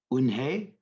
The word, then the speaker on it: Unhei: to joey she nodded slowly yes it's pronounced un hey and it means grace mr kim had it you and hey joey said slowly and this time more time un hey he said it perfectly it made smile i'll